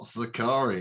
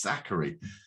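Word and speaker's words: Sakkari: in the chat saying it's not zakari it's zachary in the end i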